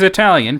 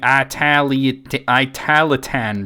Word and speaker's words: Italian: He chooses Italian, pronouncing it Italitan bread.